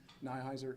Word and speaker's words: Nihiser: the media it's nihiser n h s uh phonetically boy robert ida charles edward nora ida